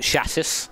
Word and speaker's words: chassis: It's pronounced chassis, actually, guys. You guys pronouncing it wrong is sort of bugging me a bit.